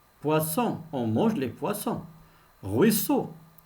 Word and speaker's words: poisson: prononcent êtes maintenant pour qu'il se prononce s il faut ajouter un autre s puissant c'est à dire